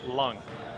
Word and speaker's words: Leong: I was calling Leong. I was saying Leong. It's actually pronounced Lung.